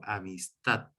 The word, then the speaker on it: amistad: Así que yo veo aquí, por ejemplo, la palabra amistad, que termina en consonante D, por tanto no lleva tilde, pero yo marco esa última sílaba con acento, acentuándola con mi entonación,